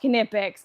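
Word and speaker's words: Knipex: why the pilot said um kipic says it's pronounced kipic it's like GIF versus GIF okay don't kill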